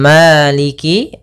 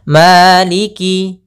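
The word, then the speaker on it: مالك: Kemudian pada lafalqi maaf pada lafal Qi ini jangan sampai Malik misalnya begitu atauiki ditekan enggak tapi dia mengalir Maliki Maliki maka maiki yaumiddin Kemudian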